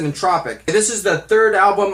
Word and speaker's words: En*Tropic: album entropic and tropic I pronounced it the way you want to pronounce it I pronounce it in tropic this is the third